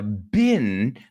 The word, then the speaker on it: been: Es más británico, pero yo lo pronuncio como bin.